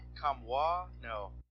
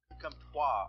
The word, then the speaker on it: Comtois: Yeah, I'm going to pronounce his name wrong. I know I am. Mike, can you help me with it? Comtois? No, that's right. Maxim Comtois. Comtois.